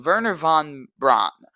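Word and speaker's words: Wernher von Braun: a little bit and how German you pronounce your W's like a V, like Verer. And then I'm pretty sure uh they pronounced their V's like a F like a mixture of V's and Fs. So hopefully I'm pronouncing Verer von Braun, Mr.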